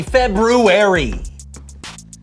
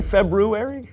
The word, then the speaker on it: February: Happy February. Did you say February? Yeah. I know there's an R there, but most people don't pronounce it.